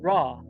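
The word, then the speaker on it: ر: go to the next combination and that is pronounced raw so the letter r or R is pronounced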